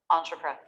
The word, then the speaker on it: entrepreneur: The last syllable is the loudest and most clear. The first 3 can be simplified a little bit. Entrepreneur, entrepreneur, entrepreneur, entrepreneur.